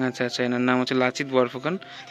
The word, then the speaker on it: লাচিত বরফুকন: এখানে দেখো একজন আছে, কার ছবি, লাচিত বরফুকন নাকি, একটা উচ্চারণটা ঠিক হয়তো বা ভুল করছে। কি নাম? লাচিত বরফুকন। আচ্ছা আচ্ছা, এনার নাম হচ্ছে লাচিত বরফুকন।